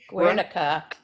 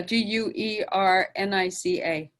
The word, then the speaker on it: Guernica: Picasso has an amazing painting called, I believe, I may mispronounce the name. Guernica. Guernica. Yeah, Guernica.